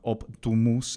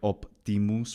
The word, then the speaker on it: optimus: The middle sound in words like optimus or optumus, written both ways, right?